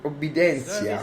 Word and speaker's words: obedientia: Obedientia. Obbedenzia comunque. È latino, ma T si legge sempre Z.